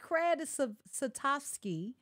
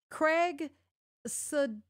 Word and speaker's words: Craig Sutkowski: You know, looks like Cred Satovsky. And I said it wrong because I've interviewed him. I know I said it wrong again. Craig Sutkowski. There we go.